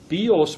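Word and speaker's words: βίος: Bios with the accent on the O is a bow, but bios with the accent on the iota, the I, is life.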